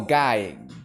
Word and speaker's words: GUI: No, guy like a boy. That's how you say it in English.